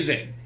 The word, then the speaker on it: Xing: of zing the land beyond God I redid pronounces incorrectly didn't I during anything we say zing good well it's uh it's I I understand